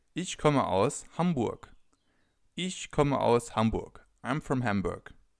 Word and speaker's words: Hamburg: you could say is Hamburg. Is Hamburg. I'm from Hamburg. As you can already see or hear, some cities have a different pronunciation in German than they have in other languages.